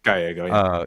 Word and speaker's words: Gallego: in Ruben Gallego, I think that's how you pronounce his last name. Gallego.